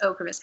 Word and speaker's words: Ocrevus: I believe it's pronounced Ocrevus. I saw my first TV commercial for it yesterday and realized I'd been pronouncing it wrong.